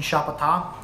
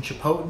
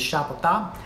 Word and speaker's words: Chapata: I was talking to Neptune Chapata. I've always referred to him as Neptune Chapotin, but the correct pronunciation is Chapata.